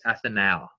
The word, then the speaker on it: ethanal: give it a L pronounced at ethanal you kind of got to get nasally with these things so that you could enunciate the difference between an aldehyde and an alcohol right because al and